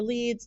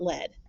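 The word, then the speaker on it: lede: It's pronounced lead. It rhymes with seed, not lead.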